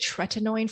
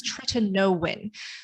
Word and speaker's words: tretinoin: i started using tretinoin i actually pronounced it tretinoin for the longest time and then i realized it's try to know when so that prescription medication